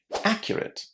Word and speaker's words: accurate: The stress here is on the first syllable. Listen. Accurate.